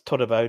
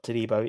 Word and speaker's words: Todibo: It's Todibo, not Todibo. It's Todibo, to be honest. You're pronouncing it wrong.